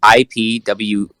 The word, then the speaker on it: Ipuwer: No, it's IPUWER, and it's pronounced IPUWER.